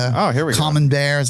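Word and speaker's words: Camembert: common bear.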